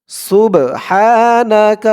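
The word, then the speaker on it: سُبْحَانَ: তো বলুন আমার সাথে সুবহানা সিন বা পেশ সুব সুব হা আলিফ জবর হা সুব হা এক আলিফ টান জবরের এরপরে খালি আলিফ আমি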